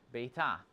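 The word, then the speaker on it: ביתה: So, for example, like with the word bite, you just add a hey on the end and it would be pronounced beta.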